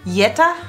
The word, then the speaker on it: Jetta: have some more Oh Jetta a new popular well know what we say actually for the Yetta Yetta Jetta I think it's just